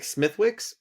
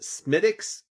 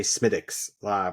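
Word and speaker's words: Smithwick's: It looks like smithwicks, but apparently to Google you pronounce it smidix or smidix. I I tend to say smidics more like a d.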